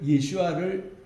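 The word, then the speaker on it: ישוע: 그거 이제 유대인들이 한 거고, 요거를 예수아를 헬라 말로 예수스라고 이렇게 발음해요. 예수스 헬라 말로는. 그리고 이제 본래 히브리 말은 예수아.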